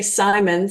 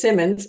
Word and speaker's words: Symons: you pronounce it and I'll say Simons and then they introduced me as Simmons it makes me giggle